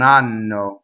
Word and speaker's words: hanno: So please, if you do nothing else right in this aria, please double the N. Anno. That means they do not have. Non hanno.